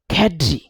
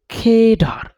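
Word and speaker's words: cadre: American ইংলিশে বলে ক্যাড্রি ক্যাড্রি সচরাচর এটা ভুল উচ্চারণ করি যেমন ইট ওয়াজ এ smell but capable ক্যাডার of doctor so এটা ক্যাডার না এটা কেডার keep practice in keep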